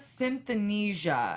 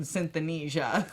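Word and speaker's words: synesthesia: that even more so she has synth Anisha I believe it's how it's pronounced where your senses are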